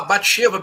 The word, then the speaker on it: Batsheva: A possui, a violenta, Betsabá, Batsheva, Betsabé, como se quiser pronunciar.